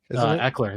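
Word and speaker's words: Ekeler: backs Austin Eiler eer I forget how it's pronounced Eckler there you go Eckler thank you yeah um he's requested a trade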